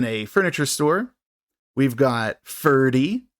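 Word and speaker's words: Ferdy: furniture store we've got Fury and you can remember him because it rhymes with nerdy and he is the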